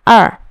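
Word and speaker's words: 二: Vậy khi nào đọc là lẻng, khi nào đọc là er? Số 2 sẽ được đọc là er khi nó là số đếm.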